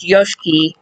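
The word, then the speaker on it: Yoshiki: Yes, it is pronounced Yoshki. Everybody at the commentary table because he is Japanese and you do not pronounce the I the first I in his name.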